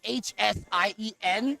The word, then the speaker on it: Hsien: So the X is always pronounced as an SH, and I can get super nerdy on why that is too. But yeah, so Xian and Hsien are actually the same pronunciation.